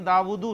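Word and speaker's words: داؤد: लेकिन जब जाहिर बात है कि हरकत वगैरह नहीं होंगी तो फिर दाऊद ऐसे लिखा जाएगा, दाऊदू नहीं पढ़ेंगे आप, दाऊद लंबा करके पढ़ते हैं आप।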